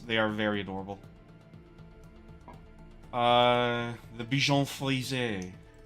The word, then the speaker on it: Bichon Frisé: The Bichon Frisé is how it's officially pronounced.